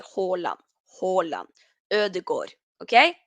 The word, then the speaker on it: Haaland: that he doesn't mind people were saying Holland but here in Norway we say hola hola ER the God